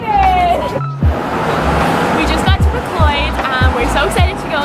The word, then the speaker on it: MacLeod's: I just found out it's actually MacLeod Books, not MacLeod.